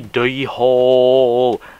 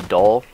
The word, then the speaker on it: dhole: today we're going to be talking about the deole actually it's the doll do not take me seriously when I say